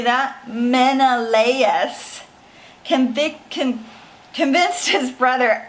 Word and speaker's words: Menelaus: say these words I might throw them up Menelaus you say that Menelaus conviction convinced his brother Agamemnon Agra Midna Menelaus